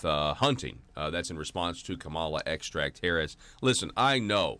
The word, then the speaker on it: Kamala: That you get with this Kamala extract, but because it's not supposed to be pronounced Kamala, she wants you to pronounce her name Kamala.